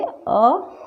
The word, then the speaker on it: अतः: तो अह की मात्रा दो बिंदुओं में होती है, जो वर्ण के पीछे लगती है, और इसे विसर्ग भी कहा जाता है। जैसे अ, त और पीछे लगा तो इसका उच्चारण क्या होता है? ह, अतः। ऐसे ही स्व, त और पीछे विसर्ग लगा है तो इसका उच्चारण हुआ स्वतः।